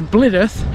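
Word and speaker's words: Blidworth: i know full well people around here say differently to how i would but i am clued up and i know how they're pronounced that's blidith and raynath this part of the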